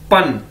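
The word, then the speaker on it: bān: हमारे पास ये देखें, पहला वर्ड है बी ए एन, पन। बी को हमें पता है हम पी की तरह प्रोनाउंस करते हैं, पे की तरह, तो ये क्या है?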